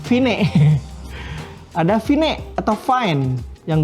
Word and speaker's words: Vine: HP sekarang ada tiktok sebelumnya ada fine-fine ya bacanya Ya Vine ada Vine atau fine